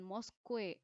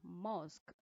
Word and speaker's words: mosque: Ya, jadi buat masjid bukan Mosque atau mosk, tapi yang benar adalah mosk.